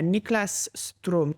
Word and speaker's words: Niklas Strom: And it was from Sweden's new ambassador to Albania, Niklas Strom.